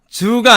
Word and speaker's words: zoo: 이것도 그냥 zoo가 아니고요.